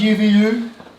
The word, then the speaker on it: UVU: then we go and ooVoo Tom is pronounced UVU okay I like saying